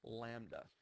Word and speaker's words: lambda: And if you remember from pre-AP, the symbol for wavelength is the Greek letter lambda, which looks like that, and it's pronounced lambda.